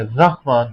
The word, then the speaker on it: رحمان: کئی لوگ پڑھتے ہیں بے رحمت کا, رحمت کوئی لفظ نہیں ہوتا, رحمان کوئی لفظ نہیں ہوتا, رے کے اوپر زبر ہوتی ہے, رحمان ہوتا ہے.